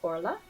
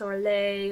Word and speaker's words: Orla: her name misspelled so don't listen to any naughty people who would tell you to pronounce it Elder Prince or lay or they're just trying to get you in trouble so first of all